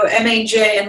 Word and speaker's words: Maja: So if you go M-A-J, and my name is pronounced pronounced Maja, but it's spelled with a J.